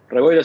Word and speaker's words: Reboiras: Te pido que me corrijas si pronuncio mal tu apellido. ¿Es Reboiras? Reboiras está bien.